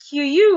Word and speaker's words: queue: word the spelling is kind of very funny Q that's how I used to pronounce it before until was consciously taught that it's Q so on the Q Americans would also say